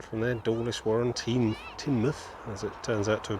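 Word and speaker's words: Teignmouth: to nexmouth and from there dawlish warren team tinmuth as it turns out to be pronounced mounted tall key grandskill beyond ah i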